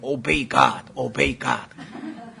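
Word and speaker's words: obey God: 그래가지고 한 100번 따라하게 오베이갓 하나님께 순종하라. 얼마나 멋있어요. 그래가지고 다 바꿔놨어요. 남들은 오바이갓으로 알아들을는지 어쩌는지 모르지만 진짜 정확한 발음은 오베이갓이에요. 신성모독과 너희 입에서 나오는 더러운 대화라.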